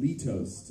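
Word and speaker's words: Litost: huh so uh this this next one's called Lee toast it's spelled l-i-t-o-s-t it's uh it's another one on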